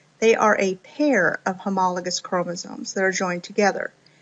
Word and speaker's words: homologous: 2 chromosomes of a pair, they are called homologous chromosomes or homologs. I've also heard this pronounced homologous, so homologous chromosomes, tomato, tomato.